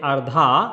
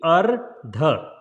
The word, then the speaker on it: Ardha: So don't say Ardha or Ardha, it's a single AA, right? So it will be Ardha, Ardha, Ardha.